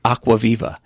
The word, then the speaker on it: Acquaviva: him right I go there's only one way pronounce my name it's aqua vive yeah no it's not